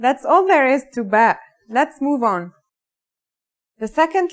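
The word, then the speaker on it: باء: in this lesson don't our first letter of this lesson is ba and yeah it makes a b sound you can remember this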